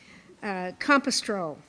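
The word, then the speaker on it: campestral: Compostrol. Compostrol, am I pronouncing it correctly?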